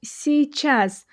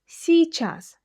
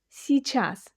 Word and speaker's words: сейчас: Here you can notice that even though "сейчас", meaning now, is the combination of two words, "сей", which means this, and "час", which means hour, we don't pronounce it as "сейчас", but rather as "сейчас". "Сейчас".